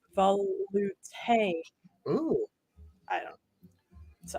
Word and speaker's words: velouté: And Randy says it's pronounced velouté.